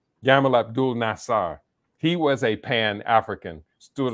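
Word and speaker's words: Gamal Abdel Nasser: since the days of abdul gano nassar i think i mispronounced the name yamal abdul nassar he was a pan-african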